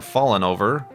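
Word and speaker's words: Fallon Over: Fallen Over, or Fallen Over. It's spelled like Jimmy Fallon, Fallon. So Fallen Over.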